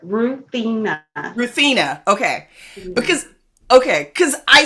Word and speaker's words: Ruthenna: It is Ruthenna.